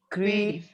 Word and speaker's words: creative: She's pretty, intelligent, and what is the pronunciation? Creative. The correct pronunciation is creative. What? Creative.